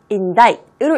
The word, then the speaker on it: indict: 읽으실 때 조심하세요. 이거 indict라고 읽으시면 틀립니다. indict으로 읽으셔야지 맞게 올바르게 읽으시는 겁니다.